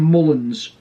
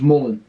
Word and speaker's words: Mullen: his first name like they call them mullins when his name's mullen like paul mullen so